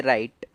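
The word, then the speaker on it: write: से समझ लेते हैं जैसे राइट तो राइट मेरे राइट पड़ा इस में डब्लू को नहीं पढ़ा क्यों क्योंकि आर है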